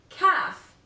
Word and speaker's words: calf: knock knowledge letter L this letter is usually silent after the vowels a oh and you for example calf should yes not sholde